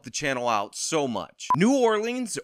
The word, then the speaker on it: New Orleans: channel out so much New Orleans or nolens if you're a local and you like the local pronunciation is one of America's